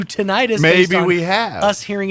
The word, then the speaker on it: tinnitus: Have we bastardized tinnitus to tinnitus?